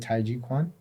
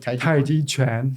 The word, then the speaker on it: Tai Chi Chuan: One of the three complete systems along with Tai Chi Quan. Do I say it right? Tai Chi Chuan.